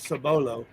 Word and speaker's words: Cibolo: lived in Cibolo Texas I actually pronounce it sabolo when I lived in